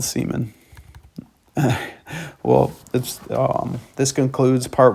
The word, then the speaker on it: Seaman: Yes, it's Seaman, spelled Seaman, but it sounds like seaman. The name and the concept is the only reason I like this game. Like I said, it was literally pronounced seaman, like that weird Spider-Man shit that shoots out of you.